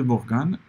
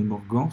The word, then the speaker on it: Morgan: et vous avez aussi les lois de morgan ou de morgon suivant la prononciation vous préférez qui dit qu'une négation